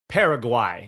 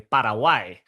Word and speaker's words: Paraguay: Paraguay is how you're gonna hear it, but you know, if you want to be, you know, you want to say it correctly, Parawai.